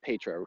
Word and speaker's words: Petra: So for everybody to mention this, it's Petra, and it is Petra, correct? I always feel like I'm mispronouncing it.